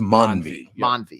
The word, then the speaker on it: Mandvi: the namei it's just Mani there's a D in there but you don't pronounce the d Mani mvi M oh